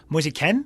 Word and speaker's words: Moise Kean: a man whose net I've learned to pronounce his name as Musa Ken yep cuz that's how his mother pronounces it okay potato said if